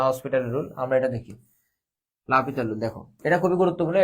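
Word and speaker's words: L'Hôpital: ওইগুলো কিন্তু লা হসপিটাল রুল দিয়ে করা যায়, এটা উচ্চারণটা লা পিতাল, ঠিক আছে। তো আমরা হসপিটাল দিয়ে বলি কোনো প্রবলেম নাই।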